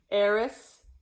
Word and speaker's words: eris: Eris, so air, and then like a sick, and then a snake, eris.